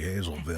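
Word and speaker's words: Hazlettville: have something that's spelled hazlittville and it's actually hazelville hazelville yes that's how it's pronounced i live on lockerman street and i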